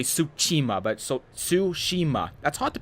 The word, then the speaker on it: Tsushima: being possible I know people like ghosts of Tsushima Tsushima ghosts of suit su